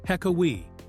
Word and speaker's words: Hekawi: They settled on the Hekawi tribe, pronounced Hekawi, which maintained the basic sound pattern of the original joke while using much cleaner language.